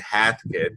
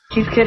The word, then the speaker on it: Heathkit: I thought when I'm reading it, I would pronounce it hat kid, but so you see, EA is a weird. You know, combination of letters. Heathkit Ham Shack.